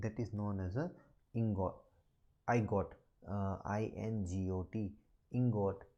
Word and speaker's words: ingot: silicon crystal and that is known as a ingot i got uh i-n-g-o-t ingot some authors are